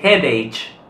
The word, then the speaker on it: headache: farò questa parola è headache allora molti italiani sbagliano a pronunciare questa parola si pronuncia è lei che si pronuncia lacca all'inizio e la ch al suono di una cappa eric eric la seconda